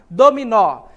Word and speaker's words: dominó: pronunciadas com tanta força aqui é pronunciada com mais força é o nó certo da palavra dominó e percebe que as